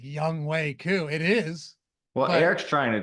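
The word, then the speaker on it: Younghoe Koo: Young Wei Koo.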